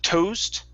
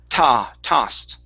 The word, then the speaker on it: tossed: All right, and your last one is going to be tossed instead of toast. It's tossed. Tossed.